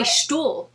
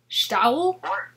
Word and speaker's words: Stull: That's why I trip on your name, is I want to say Stuhl. I don't want to say Stuh. Where I'm from, it rhymes with owl. Stowl?